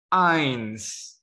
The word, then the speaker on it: eins: 1 nah angka satu dalam bahasa Jerman itu main nah tulisan-tulisannya kan eins heredia Tapi kok bacanya I'm in ilmunya Jadi kalau ada huruf